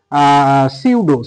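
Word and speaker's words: pseudo: এখানে এলটাও কিন্তু সাইলেন্ট আছে অবশ্যই। এরপরে দেখো সিউডো সিউডো এ ইউডি ও সিউডো সিউডো কিন্তু পি দিয়ে শুরু হয়েছে।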